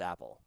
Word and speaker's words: APL: That is Gritty Man and APL, which I'm pretty sure is pronounced Apple.